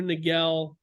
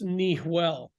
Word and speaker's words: Niguel: everyone was calling it Rancho Niguel or Laguna Niguel because Niguel is not a Spanish word it's